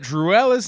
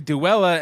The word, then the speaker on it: Duella: This week on Gotham Knights, Mike learns that Druella's name is actually Duella, and we've been saying it wrong for weeks.